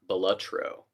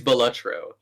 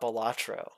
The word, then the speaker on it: Balatro: I actually learned this week that it's pronounced Belutro. So I hope this answers it. It is Belutro. Not Balatro.